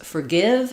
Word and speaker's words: forgive: In this case, forgive is the correct pronunciation. Letters OR just say the sound because they're unstressed. So the stress in forgive falls on the give syllable.